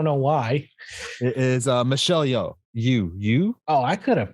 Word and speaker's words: Yeoh: It is Michelle Yeoh. You. Oh, I could have pronounced that.